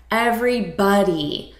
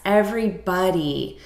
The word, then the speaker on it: everybody: And notice the pronunciation here, everybody. So it's not body like the spelling suggests, everybody.